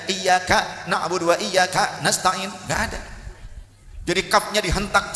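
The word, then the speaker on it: إِيَّاكَ نَعْبُدُ وَإِيَّاكَ نَسْتَعِينُ: Nggak ada dari 7 qiraat yang bacanya iyyaka na'budu wa iyyaka nasta'in, nggak ada. Jadi kafnya dihentak seperti ada hamzah sukun, nggak ada. Jangan begitu. Kemudian tasydidnya huruf iya, iyyaka na'budu wa iyyaka nasta'in, harus jelas tasydidnya.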